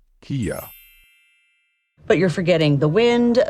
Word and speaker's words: Kia: trouble with this one the right way to say it is Kia but you're forgetting the